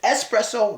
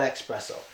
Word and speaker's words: espresso: love Starbucks people or whatever okay so it's espresso not expresso next one this one surprised me I didn't